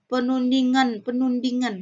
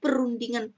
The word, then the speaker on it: perundingan: Kamu katakan penundingan. Nah, beda perundingan, penundingan.